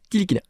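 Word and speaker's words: Ntilikina: n non tilikina tilikina tu prononce pas le N tilikina Franck grand défenseur très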